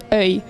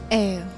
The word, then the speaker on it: œil: Can you give us a word that Andrea can pronounce in French? Okay, try to say œil. Ew.